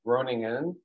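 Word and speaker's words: Groningen: um uh city um in English you would pronounce it like groaning in um um if you've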